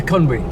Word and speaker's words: Conwy: So the pronunciation is see, in Spanish it will be Conwy. Yeah, Conwy, that's what we'd say.